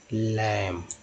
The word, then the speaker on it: lamb: तो आपको ये आखिरी के 2 लेटर याद रखने होंगे, एम बी में अगर एम बी रहे कोई भी वर्ड मीनिंग के लास्ट में तो बी को साइलेंट पढ़ेंगे और सिर्फ एम को उच्चारण करेंगे।